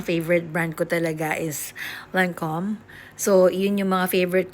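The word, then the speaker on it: Lancôme: Basta, yung Lancome, actually, Lancome. Ganun ang pag-pronounce niya sa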